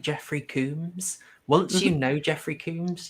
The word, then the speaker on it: Combs: It's Jeffrey Combs, like a comb through your hair. Jeffrey Combs. It is spelled Combs. I was always confused why you say Coombs, but So I really thought it was Coombs.